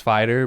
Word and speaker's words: Fihtyr: It's Fighter, but it's not spelt like fighter. It's spelled Fihtyr.